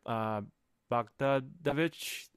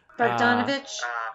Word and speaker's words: Bogdanovich: I don't know if you know of this, but Peter Bogdanovich, I think that's how you pronounce his name. Bogdanovich?